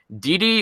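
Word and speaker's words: Didi: of them are amazing DD or gg apparently in Portuguese it's pronounced gg gg Lozada of the pelicans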